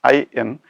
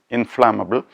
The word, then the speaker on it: inflammable: Inflammable, the spelling is INFLAMMABLE, inflammable. The tricky area is the double M in this word, and also the pronunciation is inflammable, not inflammable. Now, inflammable comes from the verb inflame.